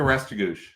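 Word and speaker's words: Restigouche: Madawaska Restigouch.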